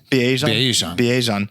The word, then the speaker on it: Bijan: Bijan.